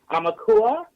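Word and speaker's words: ʻaumakua: Would you please share it about and let me see if I'm saying it right, Amakua, which is, correct.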